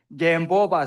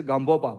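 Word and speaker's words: Gampopa: then Gambopa said again, Gambopa said. In Tibetan, we say Gambopa, but I follow your pronunciation. You say Gambopa, right?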